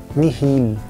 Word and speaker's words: nihil: São as palavras oxítonas, como exemplo, illic e nihil.